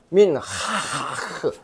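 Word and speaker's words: מנחה: 민하크. 이 흐자가 하하고 크하고 중간 발음이에요.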